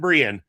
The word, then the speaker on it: Breyan: And I made sure to write down how that is pronounced because I had to listen a couple times commentary to make sure it wasn't Brian. It's Kevin Breyan.